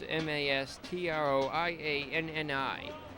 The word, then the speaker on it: Mastroianni: Here comes Mastrianani. Mastrianni stands in, the runner at second. 1 out, the pitch. Way inside, that one almost hit him. 1-0. Mastrianni. Correct me if I'm wrong the pronunciation. It's Mastroianni.